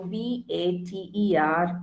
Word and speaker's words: Vater: So what is V pronounced as? V, remember, is foul. Okay, so the single alphabet V is foul. So when you, pronounce it in a word, you have to just take the starting pronunciation for. So V-A-T-E-R is Vater.